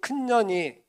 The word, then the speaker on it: 큰년이: 1921년 조선 여성들은 큰년이, 발음 잘해야 됩니다. 큰년이, 2년 전년 아니고 큰년이, 작은 년이 개똥어멈으로 불립니다.